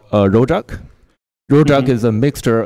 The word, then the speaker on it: rojak: And we call ourselves rojak people because we are essentially just a mixture of everything. Wait, how do you pronounce that or how do you spell it?